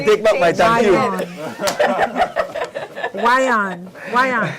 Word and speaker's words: Yvonne: Eon Swan as well. I like that name, Eon. Eon. Yes. Wyon. Wyon. Yeah, Wyon. No, I like it because you spell it Yvonne, but it's Wyon.